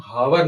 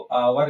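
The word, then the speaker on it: hour: य आर लिखा है इसको हम हावर नहीं कहते इसको क्या पढ़ते इसको आवर कहते हैं जिस प्रकार से नॉलेज में के साइलेंट रहता है उसी प्रकार से ववर में एच साइलेंट रहता है इसको हम हिंदी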